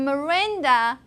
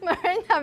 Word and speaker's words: Miranda: But, okay, the reason why we pronounce Miranda schwa in the first syllable, M, is because the stress is on the second syllable.